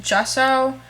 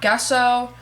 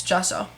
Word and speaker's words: gesso: a pet peeve of mine but it is pronounced gesso not gesso um even though it's spelled g e um